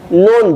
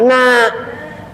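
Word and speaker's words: ن: Nun bacanya na.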